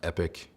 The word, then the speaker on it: EPK: EPK is pronounced epic.